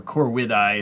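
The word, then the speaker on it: Corvidae: the corvid family yeah the Corvette eye or core widai if you're going with a Latin pronunciation because the V is actually a w in Latin pronunciation wise um man yeah crows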